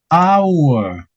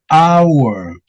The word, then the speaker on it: hour: Esta siguiente palabra no va a tener sonido en la H, a pesar de que sí se escribe, pero no va a tener sonido de la H, sino de otra cosa.